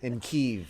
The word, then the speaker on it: Kyiv: When am I doing a vacation in Kyiv, which is the Ukrainian pronunciation I hear?